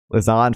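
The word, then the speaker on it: Lausanne: to pronounce it uh Lan Lan right Lan like Hassan but with an L Lon for a substantive uh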